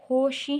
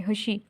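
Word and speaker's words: خوشی: अब बच्चों यहाँ पर देखें खुशी में हम होशी हमने नहीं पढ़ा, इसको हम खुशी पढ़े, खुशी, ठीक है। क्यों? क्योंकि ये यहाँ पर वाव मदूला है, इस वजह से उसको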